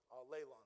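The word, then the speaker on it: ἀλλήλων: to mispronounce it, but that's the Greek word for one another, is sounds like all alone. Aleon, that's it.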